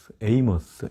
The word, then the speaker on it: Amos: 내포되어 있을 것 같습니다 아모스는 짐을 짊어진 자 영어로 발 때도 amos에서 아모스 발음 그대로 있는데요 영화 발음으론 에이머스 이렇게 발음하게 되어 있습니다 우리말로는 아모스 선지자